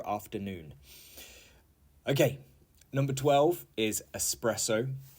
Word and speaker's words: espresso: okay number 12 is espresso and not espresso okay and the definition